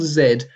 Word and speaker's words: zed: Z is the original letter name. Trace it back and you find that hard D consonant comes from the T in zeta.